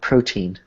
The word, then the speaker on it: protein: So, for example, protein has two syllables, pro and teen.